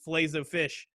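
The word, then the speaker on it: filet-o-fish: uh the nfl show we do flay of fishes and that's how you say it i know it's supposed to be flazo fish uh but no it's from mcdonald's mcdonald's grammar is fishes so i'm gonna put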